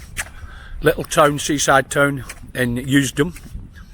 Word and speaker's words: Usedom: Little town, seaside town in Usedom. That's the island of Usedom. Or Usedom, I think it's pronounced in German.